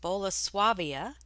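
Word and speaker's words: Bolesławiec: just under eight months and the brand is pronounced boloswavia polish art pottery and it has a very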